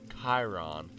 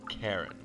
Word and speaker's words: Chiron: Yes, it's Chiron, not Charon. He is not the ferryman of the underworld.